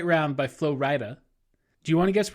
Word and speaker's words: Flo Rida: It's pronounced Flo Rida? The rapper? Yeah. Yeah. Okay, interesting. Or Flo Rida. I assumed it was written FLO-RIDA in an encouragement for people to mispronounce it, but apparently not. No, it's FLO space RIDA.